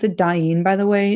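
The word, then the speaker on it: Dain: I'm going to pronounce it Dyne, by the way, not Dne.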